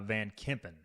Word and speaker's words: Kempen: So I I think that's his replacement as it comes for how do you say Van what's his second I think it's uh Van Kempen although I will also